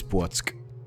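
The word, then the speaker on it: Płock: Polish pronunciation lesson. That is Płotsk.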